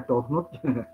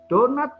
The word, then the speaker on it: donut: eh British English oke Jangan dibaca downut donat Tu bacanya donat tapi sama orang Amerika